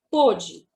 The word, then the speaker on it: pôde: Então, por exemplo, quando eu conjugo o verbo poder no passado, ele fica pôde. E no presente, pode. Então, para diferenciar essa pronúncia e esse tempo verbal, foi acrescentado o acento circunflexo no O também.